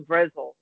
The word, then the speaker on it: Brezel: She's like, oh no, it's pronounced Brezel. I'm like, all right. So I said something like, oh, I'm gonna get the pretzel. She's like, you mean Brezel?